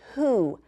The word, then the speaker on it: who: So I'm going to take this out, and the word is who. Say it with me. Who. Let's spell it.